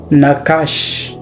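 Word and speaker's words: nachash: Now the first one is the word nakash.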